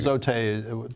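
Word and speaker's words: Zotye: ZoTe, the American pronunciation, ZoTe, they're signing up dealers, but again, it seems pretty contingent on favorable trade deals and That's right.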